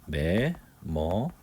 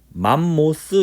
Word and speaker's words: 매머드: 매머드. 영어로는 이렇게 매머드 이렇게 하는데 독일식 발음으로는 맘모스 이렇게 하기도 해. 일본이나 독일은 맘모스. 그리고 영어, 미국과 영국에서는 매머드라고 불러. 우리가 외국 여행을 갈 때